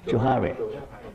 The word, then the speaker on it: Johari: How to pronounce Johari? Johari.